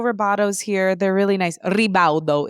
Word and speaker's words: Ribaudo: Ribaudo is how you say it.